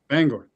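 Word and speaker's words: Bangor: Bangar. Bangar. Oh, okay. You actually say it like a like a normal American.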